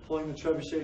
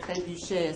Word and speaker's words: trebuchet: I also like the fact that trebuchet is a French word. Trebuchet, I think you can call it trebuchet. No, trebuchet. Trebuchet. You don't pronounce the T.